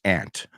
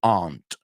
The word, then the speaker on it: aunt: Her name is Tia, which is aunt. What are you doing here? Oh, by the way, the word aunt has 2 pronunciations. They're both accepted. Aunt, like I say it, como hormiga, and aunt.